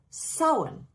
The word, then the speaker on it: Samhain: In the Irish Gaelic, it's spelled Samhain, and it's pronounced Samhain.